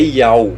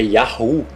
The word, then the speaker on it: Yahu: Lembre-se sempre, porque esse Rei tem som de H, não é Yau, é Yahu.